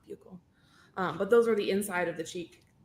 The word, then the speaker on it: buccal: I learned today that they're pronounced buccal, not buccal.